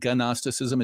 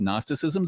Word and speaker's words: Gnosticism: It's not Gnosticism. It's just Gnosticism. The G is silent.